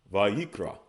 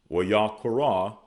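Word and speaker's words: ויקרא: Now, the Masoretic influence pronunciation would be Vayikra.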